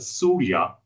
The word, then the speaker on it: Suria: So the word Surya in Malay means sun, and sun is right in the center of the Malaysian flag.